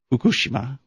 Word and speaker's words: Fukushima: Fukushima are I guess the correct Japanese pronunciation is Fukushima the suffering that they've